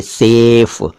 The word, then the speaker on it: सैफ: खोल रहे हैं, देखिए सेफ। लेकिन जब हम इसका उच्चारण बदलकर सैफ कर देते हैं यानी अपना मुंह ज्यादा खोलते हैं, सैफ बोलते हैं, तो सैफ एक अलग